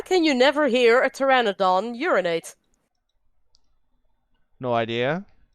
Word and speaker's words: Pteranodon: you never hear a Pteranodon urinate no idea because the p is silent dull you how come